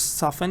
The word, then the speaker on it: soften: English but of course soften is more important because soften is a silent T which is very powerful